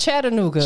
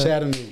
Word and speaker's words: Chattanooga: people that aren't from there will say Chattanooga right they leave the A out they leave the A out for whatever reason right exactly so it's Chattanooga Chattanooga y'all get it right or you just say